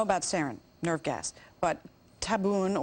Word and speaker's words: tabun: We know about sarin, nerve gas, but tabun, or tabun as it's pronounced, and lewisite.